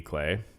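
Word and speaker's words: Klee: book about Paul clay I think it's pronounced k-l-e-e Clee clay and this one's by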